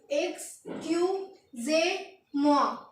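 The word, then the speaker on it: excusez-moi: उसके बाद आता है हमारा EXCUSEZMOI और इसको प्रोनाउंसिएशन इसकी है EKSCYOOZAYMWA, यानी कि एक्सक्यूजे मुआ।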